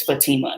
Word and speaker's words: Fatima: Dominican Republic and so when she sees my name she sees badi-ma you know she's like well Fabi my like her in her eyes and that's how they pronounce my name so I'm not like Oh actually it's Fatima you know like making